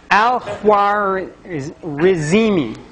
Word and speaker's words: al-Khwarizmi: Al-Khwarizmi, which sounds like algorithm.